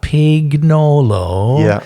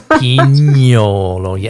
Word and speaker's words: Pignolo: of guiding people that it's not Pignolo, yeah, it's Pignolo, and even I have a hard time with the nye.